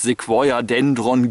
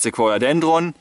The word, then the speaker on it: Sequoiadendron: klingt doch beeindruckend wobei es gibt zwei Varianten der Aussprache es gibt Leute die sagen das Ding heißt die feuerdendon giganteum und es gibt Leute die sagen das Ding heißt sequ dendron giganteum da streiten sich mal